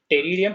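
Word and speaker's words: Pteridium: Equisetum, large मैक्रोफिलस, टेरिडियम, P silent होता है याद रखना, टेरिडियम terrace and other ferns. इसका पी यूजुअली साइलेंट होगा, कहीं जब बोलना होगा तो अगर कुछ होगा तो मैं स्पेल करके बता दूंगा उसको। वैसे इनके इन दोनों के पी साइलेंट है, टेरिडियम एंड टेरेस।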